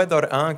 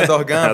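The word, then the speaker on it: Erdoğan: porque tem uma palav erdogan é todo mundo fala erdogan porque é uma palavrinha que parece um G Mas é uma palavra que tem uma letra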